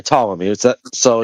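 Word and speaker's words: Ptolemy: Tommy. Is that so? Just the P is silent.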